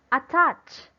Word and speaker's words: attach: Is it in at or in tat? Okay, it should be in the syllable touch. Okay, it should be in the syllable touch. Why? Because this is a verb.